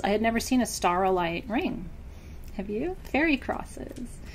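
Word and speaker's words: staurolite: all my travels I had never seen a star light ring have you fairy crosses and so star light it's spelled s s a u r o l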